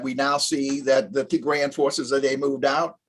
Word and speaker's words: Tigray: I just want to correct, the pronunciation is Tigray.